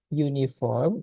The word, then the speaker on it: uniform: The police officer was not wearing an uniform when she arrested the suspect. Di sini ada kata an uniform. Uniform itu bacanya u depannya.